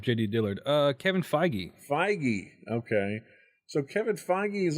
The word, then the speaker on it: Feige: determined and that's a Kevin How do you pronounce his name? I was looking up JD Dillard. Uh Kevin Feige. Feige.